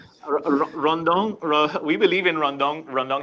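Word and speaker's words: rondón: To say "run down," and then in the way it's pronounced in Spanish, "rondon."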